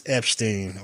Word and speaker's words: Epshteyn: Citing irreconcilable differences with Trump's senior advisor and in-house counsel, Boris Epshteyn, or whatever the fuck his name.